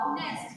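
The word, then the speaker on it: honest: तो सबको पता होगा, ऑनेस्ट एच से लिखते हो बट प्रोनाउंस कर रहे हो ऑनेस्ट, एंड ओ इज the sound of ओ एंड ओ इज a vowel, ठीक है।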